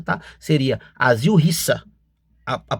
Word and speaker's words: Asil Resa: O mais correto, a pronúncia mais correta, tá? Seria asil risa, a a pronúncia mais correta.